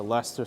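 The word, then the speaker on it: Leicester: heads where's Lester Square because it's Lester Square for some reason they decide to use all the letters but not use any of them and just pronounce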